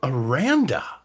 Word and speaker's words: Aranda: Scott, and one of our guests, Dameon of Aranda. Nice. And you pronounced it correctly, and I love that.